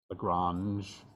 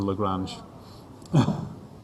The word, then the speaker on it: Lagrange: Lagrange. I suspect he was French by the way you pronounce his name. And it's the Greek letter lambda makes an L sound, and so it's L for Lagrange.